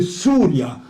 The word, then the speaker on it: Syria: Ils n'ont pas appelé tout à fait Syria la prononciation c'est souria parce que Y en grec c'eston c'est un ou Y en grec.